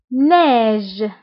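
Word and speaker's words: neige: ليكزامبل الثاني ناج ناج، فقلنا او اي كتنطق ب اي ناج. دونك كيف قلت سابقا ضروري من لي فويل في الكلمه باش تنطق. دونك او اي كتنطق ب اي ناج ناج.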